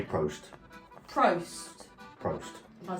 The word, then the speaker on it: Prost: of cheers, they say Prost. Prost. Prost. Am I saying it right? Yes. Prost. I probably saying you telling No, me. it's Prost.